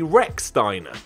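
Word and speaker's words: Rechsteiner: Maybe back in the day the Rex sounded too bizarre, but given that it is pronounced that way, or W-R-E-C-K if you need more, well, what are we doing?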